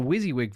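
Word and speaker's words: WYSIWYG: able to open files I'm using a wizzy wig by the way that's how you pronounce it do what does it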